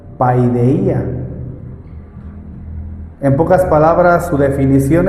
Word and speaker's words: paideia: palabra, disciplina, que viene del original que se pronuncia paideia.